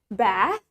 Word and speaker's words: bath: to the word bath in British we say it bath ba let's try it